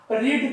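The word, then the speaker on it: read: जैसे रीड का प्रोनाउंसिएशन करेंगे, रीड V1, रीड spelling same रहेंगे, लेकिन उसका प्रोनाउंसिएशन चेंज हो जाएगा। जैसे V2 जब लिखेंगे रीड तो उसको रेड प्रोनाउंसिएशन करेंगे, या फिर अगर V3 करेंगे तो जैसे मान लेता हूं कि मैं पढ़ चुका हूं, I have रेड, I have रेड, जैसे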